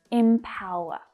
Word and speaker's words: empower: Even though it's spelled with an E, it's not E, it's I. Empower. So the second syllable is the stressed one, empower.